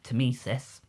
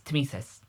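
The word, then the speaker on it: tmesis: s i s however the way I remember to pronounce it is tesis because of to me to you yeah but if you say it fast enough it's tsis and that is the word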